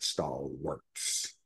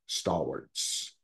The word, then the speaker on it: stalwarts: that counts you know but it's not star warts it's star stalwarts like warts but um yeah no